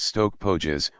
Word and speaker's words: Stoke Poges: tour, to Stoke Poges church, pronounced Stoke Pógees, where Thomas Grey wrote the elegy.